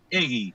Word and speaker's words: Heguy: Y la pronunciación correcta viene del origen vasco-francés, es decir, Claro. que la pronunciación es Egui.